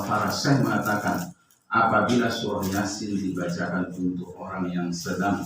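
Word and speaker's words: يس: Yasin. Ianya 2 harokat ya, karena tegak berdiri. Kalau sinnya memang harus panjang 6 harokat. Jadi Yasin. Yang sering keliru itu ianya yang panjang.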